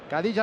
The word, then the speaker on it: Khadija: estirón de oreja, porque no se llama Khadija como pronunciamos, a pesar de que su nombre empiece por K, sino se pronuncia con J, Khadija Ramuni.